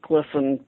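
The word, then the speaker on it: Glisan: Glisson?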